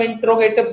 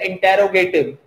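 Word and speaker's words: interrogative: आज भी हम इंट्रोगेटिव बोलते हैं जबकि स्पेलिंग होती है इंटेरोगेटिव, और स्टैंडर्ड में इसको बोला जाता है इंटेरोगेटिव।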